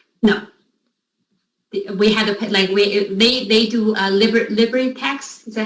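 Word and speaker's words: LibreTexts: We had they do LibriText. Is that how you pronounce it? LibriText.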